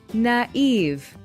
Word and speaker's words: naive: so naive or naive how do you pronounce it well the right pronunciation is naive and it means when